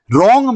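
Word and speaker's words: wrong: है वो साइलेंट है रोंग में व साइलेंट है रोंग का मतलब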